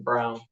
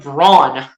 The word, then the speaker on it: Braun: ball oh never mind I think it's actually Christian Brown then why do you spell it b-r-a-u-n when it sounds like brawn when you pronounce a Christian Brown oh first one of